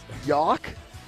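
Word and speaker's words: Jauch: your last name is y-o-w-k yeah but it's spelled with the J I think it's j-a-u-c-h correct yes it is yok yoke that's the most interesting thing about you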